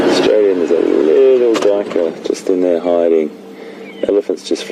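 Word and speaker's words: duiker: Little grey Dyker. Dyker is spelled D-U-I-K-E-R. It's a small antelope that dives through the undergrowth in that manner and hides in those little thickets. And Dyker in Afrikaans means diver.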